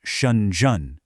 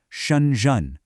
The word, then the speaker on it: Shenzhen: So, the name itself, it's pronounced "Shun-zhen". You hear that? A falling tone, then a rising one. "Shun-zhen".